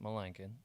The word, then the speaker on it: Melanson: But so it went Melanson, but you pronounce it Melankin, then Lankin, then Lanko, then Queso, In Queso Blanco.